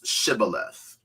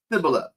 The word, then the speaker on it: Shibboleth: You know, and there was an individual, he could not pronounce Shibboleth, right? He couldn't pronounce the sh, so it's probably had a list. Sibboleth, right? So there's a difference between Shibboleth and Sibboleth, right?